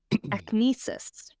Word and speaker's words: acnestis: Akinesis. All right. It is spelled ACNESTIS.